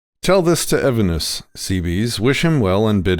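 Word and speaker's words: Cebes: how to say it it's it's seabees in english i think i think the original greek it might be something different but we're gonna go with seabees so i hope you guys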